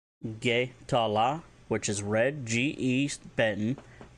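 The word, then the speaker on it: ge'tala: If you want to say red, Getala, Getala, which is red, G-E Beton, T-A-L-A.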